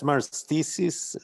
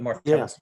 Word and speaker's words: Martellus: Uh, that's Marthesis? How do you say it? The Martellus Map.